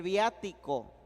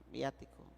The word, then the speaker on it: viático: reserva eucarística fue el viático el viático viático V y latina a de Arturo t de Tito I de inteligente C de casa y o de Orlando betico acento en la a viático Sí verdad acento en